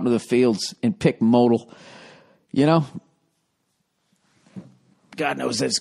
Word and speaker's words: modal: please include the following I'm going to it's pronounced modal every pair of meundies is made from SU